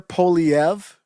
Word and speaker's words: Poilievre: You pronounce it Pierre Poilievre.